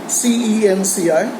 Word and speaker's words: Cenci: He has to his credit a very well-known drama called Cenci, C-E-N-C-I. The pronunciation would be Cenci.